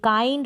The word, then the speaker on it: काइंड: आई के बाद में एल डी है। आई के बाद एन डी है। आई के बाद एन डी है। तो यहां पर हम आई को आई प्रोनाउंस करेंगे।